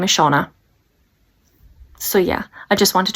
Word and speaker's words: Shauna: I do apologise, but her name isn't Shannon or Shannon. Her name is Shauna.